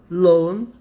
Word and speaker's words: loan: E loan é empréstimo. Vamos ver se tem alguma outra observação aqui de pronúncia. Loan. Loan. Loan. Loan. Na verdade, você não pronuncia nem o A, né? Loan.